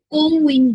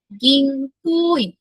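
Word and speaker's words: 銀行員: এই যে কো, এখানে কিন্তু একটা ইউ আছে একটা এক্সট্রা, এটা দিয়ে জাস্ট ইলংগেটেড উচ্চারণ হবে, মানে একটু লম্বা করে উচ্চারণ করব আমরা, এটা কিন্তু কোউইন বলবো না। ঠিক আছে, তাহলে এটা উচ্চারণটা কি হবে গিং কোইন।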